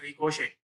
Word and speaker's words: ricochet: It's pronounced ricochet.